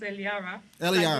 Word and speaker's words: Eliara: okay but I just like it when it's pronounced Elara in French yes all right we will talk